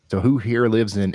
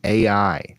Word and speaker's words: Ai: happening over here in AI oh it's it's pronounced I how unique I was going to say this this might be a good place to you know send ybot to It's pronounced I though okay I love it